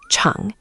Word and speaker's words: chǎng: Second, chang, is tone 3, the dip.